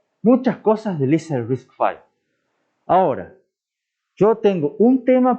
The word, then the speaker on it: RISC-V: Hoy en día se pronuncia RISC-V por ser la 5ª iteración de los diseñadores que hicieron el primer RISC en los años 80.